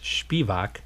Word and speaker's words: Spivak: I'll spell that for you. Spievak. And being a Polak, I would pronounce that as Spivak.